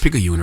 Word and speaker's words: Picayune: I pronounced Picayune right.